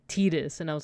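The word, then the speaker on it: Tidus: Fantasy 10 came out I also called him t uh Titus for a while until I think Kingdom Hearts came out and they confirmed that it's pronounced like tetus and I was like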